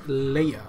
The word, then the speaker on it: Leia: group consists of Jeannie Denis Sudan DITA and Leia mamasay Leia like that because there's an action over the e so probably right I mean I'm probably wrong so it says Leia it's pronounced Illya but it stylized as Leia she's a leader